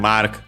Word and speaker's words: マーク: Yeah, mark is accented like in English on the first syllable.